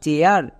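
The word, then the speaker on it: chair: সি এইচ এর জন্য চো, এ আই এর পরে আর আছে, তার মানে এ আই এর জন্য এ আ। তাহলে কি হলো? চো প্লাস এ আ, চেয়া, আর এর জন্য রো। এবার একসঙ্গে উচ্চারণ করো, সি এইচ এ আই আর, চেয়ার।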